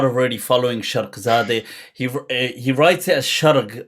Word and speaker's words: Sharghzadeh: if you're not already following Sharghzadeh, he writes it as Sharg, but that's because of the accent. It's written, but it's pronounced Sharq as in the East. Sharghzadeh.